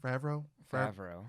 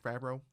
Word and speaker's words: Favreau: Favreau. Favreau.